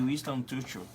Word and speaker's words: Winston Churchill: E lembrar uma frase de Winston Churchill.